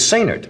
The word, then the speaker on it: Sainert: Sainert. Now, why do you say the accent is on the last syllable? He likes it that way. It's like say nurse, only say nerd.